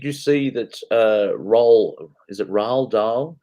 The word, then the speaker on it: Roald Dahl: Is it Roald Dahl? How do you say his name? Raldol, yeah.